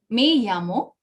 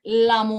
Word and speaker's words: me llamo: It is Y pronunciation. It is not L.